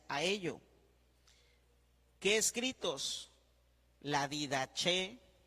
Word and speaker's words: Didaché: de qué de elefante y con acento en la e didaché didaché y el pastor